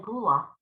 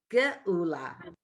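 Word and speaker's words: גאולה: The aleph doesn't have a vowel, so where's its vowel? It's the u next to it. Right. Okay, and then la, because the hey is silent.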